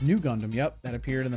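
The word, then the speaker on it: ν Gundam: And the RX-93 FFV Gundam, heavily based on the Amuro Ray's RX-93, pronounced New Gundam, yep, that appeared in the Mobile Suit Char's Counterattack film, debuted in Fukuoka's Mitsui Shopping Park.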